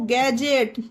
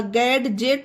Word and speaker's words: gadget: Okay, GADGET, डी के बाद जी आया तो गैजेट, गैजेट होगा, गैडजेट नहीं होगा, यहाँ पे भी डी साइलेंट हुआ, गैजेट।